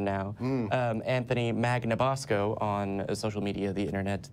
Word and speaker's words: Magnabosco: Anthony Magnabosco on social media, the internet, the interwebs. Perfect pronunciation, too.